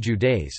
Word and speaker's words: județe: Romania is divided into 41 counties, județe, pronounced Judeis, and the municipality of Bucharest.